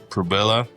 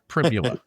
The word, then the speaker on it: Pribula: It's a Prubilla. I'm not sure how to pronounce his name. We decided it rhymed with fibula last year. Yeah, or last week. We're going with Pribula.